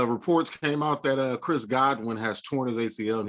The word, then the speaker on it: Godwin: Goodwin went out because of an injury. Godwin, he was right the first time. Godwin or Goodwin, however you want to pronounce it.